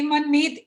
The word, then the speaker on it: मनमीत: मैं तो ये कहना चाहता था मनमीत जी कि आपने बड़ा अच्छा सेशन लिया और आप सबके मन की मीत बन गए।